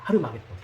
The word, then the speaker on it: 아마겟돈: 곳이 어디라고요 본문에 히브리어로 아마겟돈이라 하더라 이렇게 돼 있죠 자이 아마겟돈을 정확한 발음은 뭐냐면 하르마겟돈입니다 하르마겟돈 정확한 발음은 히브리어 발음은 이걸 헬라어로 쓰면서 아마겟돈이 되는데 정확한 히브리어 발음은 하루